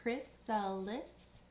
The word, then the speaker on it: chrysalis: three is chrysalis and here this is a pronunciation key it tells you how to read it say Chris sell lists here's how I pronounce it I'm sorry and Stage